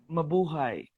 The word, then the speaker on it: Mabuhay: Mabuhay.